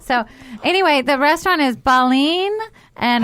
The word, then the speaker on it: Baleen: i love that so anyway the restaurant is baleen and how do you spell that b-a-l-e-e-n yes and it means whale right